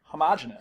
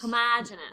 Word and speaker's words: homogeneous: you say it again you say homogeneous homogenous right cuz I went to school in the North and you went to school in the South I don't know if